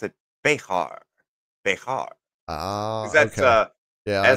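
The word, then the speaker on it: Bexar: Texas anyways um it's spelled beer but they pronounce it bear bear Ah that's yeah I know you're talk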